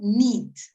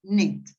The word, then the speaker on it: knit: It's not neat. It's knit.